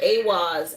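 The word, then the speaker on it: Eihwaz: The way you um spell it is e i h w a z. And you pronounce it like awaz. A w a z.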